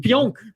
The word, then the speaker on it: Pionk: Pionk.